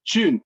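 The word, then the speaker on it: 君: No, in Mandarin it's Jun, Junzi the Jun. Oh, Jun, Jun. gentlemen. Oh, okay. Okay, so Mr. Jun. Guan, I don't know if you're Cantonese, but Guan is the Cantonese pronunciation of Jun.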